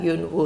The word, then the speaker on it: yun wu: Whereas like, I just read that Yun Wu is like 2.